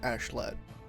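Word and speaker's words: Askeladd: ashleigh i believe it's it's spelled like ask a lad but they pronounce it like ashlet yeah ashlan listening i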